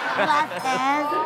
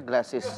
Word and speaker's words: glasses: Glasses. Glasses, bukan glasses. Sunglasses. Kagak sih, salah kagak sih? Enggak salah. Enggak salah. Nah, kan bisa ngademin mata ada gelas esnya. Iya, tapi maksudnya dibacanya glasses, bukan glass es.